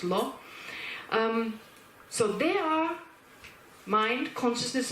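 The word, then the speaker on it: བློ: And then there's another word, awareness, which in Tibetan is lo, which is pronounced, well, blo, it's actually pronounced lo.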